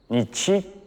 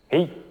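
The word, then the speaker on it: 日: They read it as, nichi, or, hi. But no matter how to read it, its meaning has not changed.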